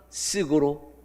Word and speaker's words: SSG: 쓰기는 SSG지만 읽기는 뭐라 읽어요? 쓱이라고 읽습니다. 여러분 광고에서 보셨을 거예요. 그래서 스크가 쓱으로 줄어들었다.